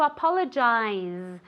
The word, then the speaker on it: apologize: is very good to apologize a difficult word okay because you have that Zed sound that you have to move your vocal cords like a little B okay to advance no